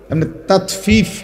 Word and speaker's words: তাতফিফ: তাতফিফ শব্দের অর্থ হলো তাতফিফ বাংলা শব্দটা বুঝছেন উচ্চারণটা ত আকার তা তত ফ দীর্ঘিকার ফি ফিফ এই তাত ফিফ এই হলো শব্দটা অর্থ